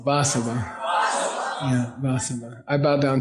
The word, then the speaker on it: Vasava: You say, I bow down to the Buddha, Vasava, V-A-S-A-V-A, V-A-S-A-V-A, V-A-S-A-V-A, Vasava. Okay? V-A, yeah. Vasava, yeah, Vasava. Say Vasava. Accent on the first syllable, Vasava.